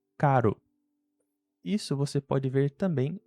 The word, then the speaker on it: caro: Então, a palavra que antes tinham dois Rs e se pronunciava carro, agora com um R só. E como ela fica entre a letra A e O, ela vira caro.